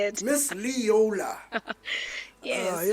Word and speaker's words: Leola: Miss Leola. Yes, that's how you say it. Miss Leola.